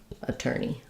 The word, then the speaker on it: attorney: Attorney. Second syllable stress. And, uh, you can think about that as an er or ur, um, but letters or in attorney, um, say the er sound rather than the or sound.